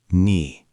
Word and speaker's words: knee: Knee, pronounced knee, silent K.